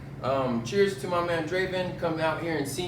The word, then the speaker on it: Drvvn: at draven at durban so if you spell it it's d-r-v-v-e-n my name is draven draven but you know it's